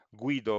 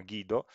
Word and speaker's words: Guido: noi in italia noleggiamo guido van rossom ma in realtà lui si chiama guido perché olandese quindi non lo pronuncia sicuramente all'italiana a un certo punto